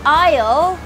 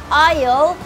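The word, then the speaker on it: aisle: ก็ คือ หน้าต่าง ส่วน Oil A I s l e Oil ไม่ ต้อง ออก เสียง มี S นะ คะ เป็น Oil ก็ คือ ช่อง ทาง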